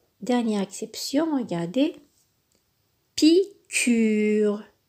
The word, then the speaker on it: piqûre: Piqûre. Ici, le U se prononce. Donc, on dit piqûre.